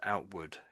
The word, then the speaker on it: outward: We more just it gets pronounced as outward. Outward. Just try again. Outward. Outward. Outward. So, it's got ward on the end, but we don't say ward. We actually say wood as if it was w o d.